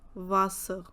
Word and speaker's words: Wasser: Same way when we talk about W, the sound is V, V. So Wagen, Welt, Wasser.